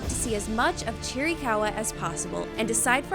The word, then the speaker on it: Chiricahua: So today we're setting out to see as much of Chiricahua as possible and decide for ourselves if it has the geographical and cultural significance to earn that coveted title.